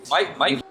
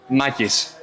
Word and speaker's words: Makis: Makis, nice to meet you. Mike. Makis. How do you spell it? M-A-K-I-S. Ah, yes. Okay. Not It's like, you know, maki rolls, Yeah. like sushi, maki, but makis.